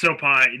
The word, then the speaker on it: Sopaj: It's Vinicius Oliveira versus Sopaj, or however you pronounce It's Sopai, dude.